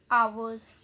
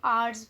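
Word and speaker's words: ours: देखिए for example mine, मेरा, आवर्स, इसका मतलब होता है हमारा, इसको कुछ लोग आर्स भी कहते हैं, ठीक है।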